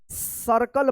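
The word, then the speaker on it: circle: देखिए यहां पे सर्कल यहां पे भी देखिए लास्ट में इ है तो इ का यहां पे साइलेंट है इ यहां पे इ ठीक है ना लेकिन यहां पे आई के बाद आर है तो यहां पे अ उच्चारण होगा यहां पे आप आई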